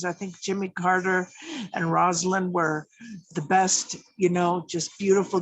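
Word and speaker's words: Rosalynn: So we have the high school where Jimmy and Rosalind, her name is pronounced Rosalind, like Rose Garden. She's named after her Aunt Lynn and her grandmother Rose.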